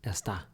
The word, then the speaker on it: es: And you pronounced an S, which is excellent. English speakers should beware that maybe they feel themselves pronouncing a Z, because many times we have an S in English, like in the word is, and we pronounce a Z. So you might find slipping out es, but it's Not me incorrect. on You that. should be careful to pronounce an S.